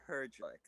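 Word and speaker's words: Herglic: believe it is pronounced Herjlik.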